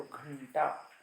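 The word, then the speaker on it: घण्टा: घंटा, घंटा में अनुस्वार के बाद ट वर्ग है, तो ट ठ ड ढ न, तो यहाँ पे न अनुनासिक आया तो घंटा, जो ब्रैकेट में लिखा है लास्ट में ऐसा लिखना पड़ेगा, घंटा।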